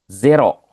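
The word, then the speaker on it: ゼロ: Minasang sama seperti bahasa Inggris tapi pelafalannya ini z ya, bukan zi. Kalau bahasa Inggris kan zero ya. Kalau bahasa Jepang zero ya.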